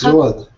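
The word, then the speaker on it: Zsolt: It's Jolt. Can you repeat, please? Jolt. It might be a little difficult. Salt, without pronounce the Z.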